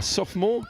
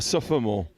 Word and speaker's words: sophomore: And you're a sophomore? Yeah. Not a sophomore? Because No, I've been told off there's no O. O. Although it's spelt with an O.